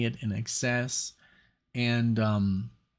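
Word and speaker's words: INXS: and now I know how to say it in excess and um like talk talk um Brian Ferry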